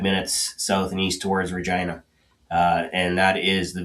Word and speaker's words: Regina: south and east towards Regina. Uh and that is the Via Rail stop in in this part of Saskatchewan. So, Nice. Regina, that's the town that rhymes with fun.